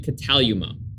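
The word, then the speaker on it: κατάλυμα: editing this i've realized my pronunciation that i used was totally wrong it's actually cataluma a typical village home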